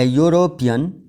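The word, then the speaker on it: European: आवाज वाई की है इसी तरह अ यूरोपियन इसकी साउंड वावल की नहीं है बल्कि कंसोनेंट की साउंड है अगर अगरचे इसका पहला लेटर वावल है यानी ई मगर इसकी साउंड वल की नहीं है इसकी साउंड वाई की तरह ही रूल नंबर फाइव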